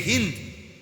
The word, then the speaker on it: হিন্দ: যে নারীর নাম হল হিন্দ আমাদের দেশের উচ্চারণে বলে হিন্দা যাই হোক মূলত হল হিন্দ আকারটা নাই আর কি কিন্তু এটা উচ্চারণের একটা ভুল হিন্দা বলে ফেলে তো এই হিন্দ বিনতে আবু সুফিয়ান আবু সুফিয়ানের কন্যা হিন্দ।